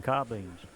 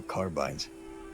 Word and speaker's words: carbine: what they're all carrying car beans oh carbines carb carb it is carbine yes listen I know carbine